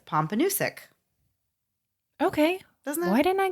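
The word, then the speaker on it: Pompanoosuc: sense to me so the way you say that is pompus okay do why didn't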